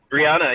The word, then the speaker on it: Breonna: Am I saying it right, Breonna? Brianna, yeah, Brianna, Brianna, right.